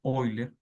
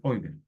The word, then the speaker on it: Euler: es realmente se pronuncia oiler Pero uno uno la la la lee o sea la lee como se escribe que se escribe Euler pero la pronunciación debe ser oiler el pi número p